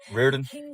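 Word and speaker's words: Reardon: Rearen. What? Rearen. Rearen. Can you spell that for me, please?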